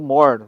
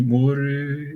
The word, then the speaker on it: Moore: qual o processamento dobra Moore, ou More, enfim, mas a pronúncia certa é Moore.